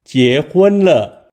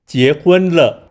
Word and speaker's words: 結婚了: 了了 To help you remember 结婚了 easily, we can use the English words Jack, Hoon, and Lo to make sentences. Jack represents 结 Hoon relates to 婚 and Lo connects.